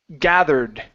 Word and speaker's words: gathered: here the word is gathered pronounce that E ending gathered gathered good give me a good th make sure that your teeth your tongue goes between your teeth vth GA gathered gather